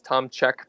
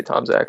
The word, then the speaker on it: Tomczak: hard to spell it's it's Tom Che polish if uh if you're polish but we we just say Tomac whatever and so my